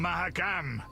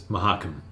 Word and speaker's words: Mahakam: And also, the later games pronounce it as Mahakam, not Mahakam.